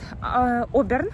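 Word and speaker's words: Auburn: Сегодня мы приехали в город Оберн, он называется, так пишется Аубурн.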